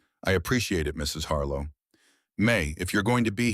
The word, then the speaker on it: Mei: May, if you're going to be here all winter, you might as well use my name.